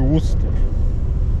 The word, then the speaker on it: Worcester: Albo takie miasteczko w Massachusetts bodajże, które się pisze Worcester, a czyta się Worcester. Czemu tego się nie czyta na przykład Worcester, tylko Worcester?